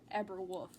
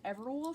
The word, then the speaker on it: Eberwolf: And according to the wiki, it is pronounced Eberwolf. Weird. I thought it was Everwolf for the longest time, but that's why I'm saying Everwolf, because that's what the wiki says, and the wiki knows all.